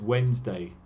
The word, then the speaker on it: Wednesday: Recuerden que la pronunciación de Wednesday es Wednesday.